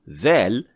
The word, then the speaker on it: ظ: In other words, to pronounce Dha, you will pronounce Dhal as full mouth, which means you will raise the back of the tongue to create that full, heavy sound.